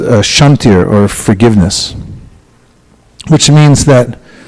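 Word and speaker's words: kṣāntir: the verse that begins, Shantir avyartam kalatvam. Shantir is spelled K-S. Shantir. KS.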